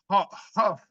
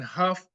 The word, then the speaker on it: Hough: We're so fortunate today, finally able to get the 2023 Notary of the Year, Christine Hough. Am I pronouncing that right? Hough, yes. Hough.